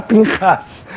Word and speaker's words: Pinchas: Depois eu fui entender que era Pinchas, o nome dele que se pronuncia em hebraico Pinchas. Mas em português era Pinhas, e o Pinhas, será